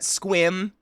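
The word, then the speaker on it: Sequim: people susah River yep we have the squim squim which is spelled sequum that's a weird one Austria Austria Katie Australia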